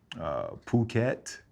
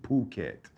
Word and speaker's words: Phuket: Phuket and Phi Phi. Most people say Fifi, but it's Phi Phi in Phuket, not Phuket. what's The that? H is silent, bro.